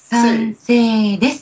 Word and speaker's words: 賛成: 賛 Sansei. Just like the same sound at the ending of someone's name.